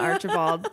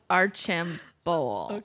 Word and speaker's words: Archambault: yeah yeah it's not Archibald it's our chim bowl oh because I I'm French like I have the French background so I don't usually pronounce the L on the T but